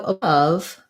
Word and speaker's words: above: for the stressed schwa so above doesn't again the o doesn't sound like an o it sounds the same